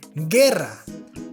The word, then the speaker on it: guerra: sound gay engine well you have to add a u between the g and e and between the g and i so we have words like guerra guerra guitar guitar and